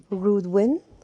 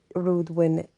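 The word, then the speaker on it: Reudwyn: rowing spirit is called rudwyn rudwin and it is spelled r e u d w y n but it is pronounced r u d e w i n rude win win the rowing is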